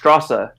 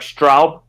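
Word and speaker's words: Straße: it visually is that symbol which um looks like a lowercase b but it's actually um a double s sound so it's actually pronounced strasser rather but it looks like straub but it's actually strasser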